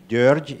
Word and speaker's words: György: More precisely, György in Hungarian, George in English.